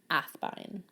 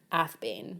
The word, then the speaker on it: Athbine: Athbine. Which is actually supposed to be pronounced Athbane, but...